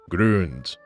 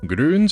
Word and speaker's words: Grüns: try this video sponsor grons grons and yes I'm pronouncing the umlout every time or a convenient comprehensive